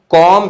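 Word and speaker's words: comb: कॉम B silent होता है, कॉम कॉम्ड कॉम्ड, right.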